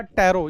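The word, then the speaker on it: Pteropus: टैरो। यहां पे जो पी है वो साइलेंट है।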